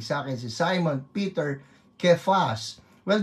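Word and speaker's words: Cephas: Nakikinig sa akin si Simon Peter Kefas. Well the pronunciation for Sefas is actually Kefas no.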